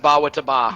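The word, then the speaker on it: Bawitdaba: Hype in the chat says, Ba Wit Daba. 1337. Thank you so much for the $100. Excuse me, that's pronounced ba wita ba.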